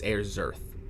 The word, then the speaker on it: Ayrserth: It's Ayrserth. Then again, I Like mean, air in birth, but with a Z instead of a B.